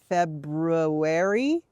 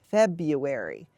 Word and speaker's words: February: has that r that you will sometimes hear pronounced like February but it's much more common to hear it pronounced February so that's the one we're going to practice